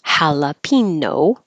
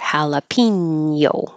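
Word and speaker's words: jalapeño: we just make it jalapeno or jalapeno with a Y before the O as in what you might see on a menu jalapeno poppers misogynist misogynist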